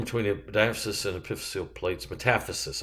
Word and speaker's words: metaphysis: there is bone marrow metaphysical metaphysis flared portion long bone between diaphysis and epiphyseal plates metaphysis i'm sorry that's how it's pronounced olecranon process is part